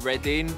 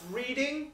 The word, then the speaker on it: Reading: her up yeah and it says she likes ready which is where I grew up it's pronounced reading no it's not mate I grew up there